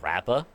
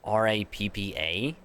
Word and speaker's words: Rappa: to be an like pronounced as rappa I think it spelled like r a p p a rappa and her whole get